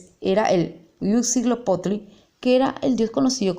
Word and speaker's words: Huitzilopochtli: bien cómo se llama, porque Yetu-Ujina en su pronunciación era el Huitzilopochtli, que era el dios conocido como el padre de los aztecas y era su principal dios, de los muchísimos que tenían.